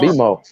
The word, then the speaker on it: Baltimore: They don't even say Baltimore. They say Baltimore. Yeah. They don't do the R. They don't pronounce I said be more. I said be more. What I be saying be more. They don't say no Rs.